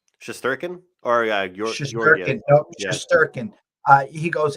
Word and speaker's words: Shesterkin: talked about the fact that, how do you pronounce that guy, the goalie's name? Shesterkin or Georgiev? Shesterkin.